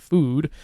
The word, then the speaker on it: food: One of my favorite examples is the word "fode" used to be how you pronounce the word, and now we pronounce it "food."